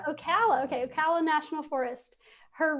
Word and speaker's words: Ocala: the ocala national forest am i saying it right we'll call it ocala yeah ocala okay ocala national forest